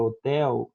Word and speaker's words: hotel: No começo da palavra homem, no começo daquela loja chamada Avan, no começo da palavra hotel, nunca se pronuncia. Em espanhol também. Hotel, hola, hombre, nunca se pronuncia o H, tá bom?